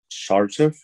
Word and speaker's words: Sarcev: Sarcev.